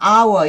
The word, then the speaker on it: hour: 그래서 유니폼이지만 여기는 이렇게 이런 발음 나거든요. 얘가 소리 안 나요. hour 이렇게 되니까 on hour 이렇게 되는 거예요.